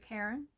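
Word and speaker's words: Charon: Karen. I think I pronounced his name wrong in the beginning and then they showed me later on that it was pronounced C as if the H was silent.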